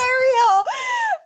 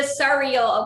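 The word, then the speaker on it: Suriel: I don't care I they all love pronounce the cereal. Oh, I don't care that y'all pronounce it the surreal, okay? He's not a bowl of cereal. His name is the surreal because he keep it real, all right?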